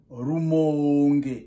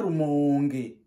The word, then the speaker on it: Rumonge: On prononce Rumonge.